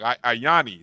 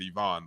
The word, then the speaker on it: Ayani: Ayani Sanford. I'm sorry. I may have said Yvonne, but Ayani Sanford.